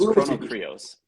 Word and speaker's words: Chrono Krios: I do it as Chrono Krios.